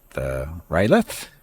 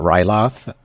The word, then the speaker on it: R'lyeh: This is early age with Rylith. I think that's how you're supposed to pronounce that. I call it Ryloth, but that's because of the way it looks in my brain, or looks to my brain.